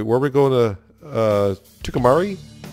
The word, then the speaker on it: Tucumcari: Tucumari? Tucumcari. Sure, that's the way I'll pronounce it. I got two of them going to Tucumari. Yeah, I won't be able to get that right.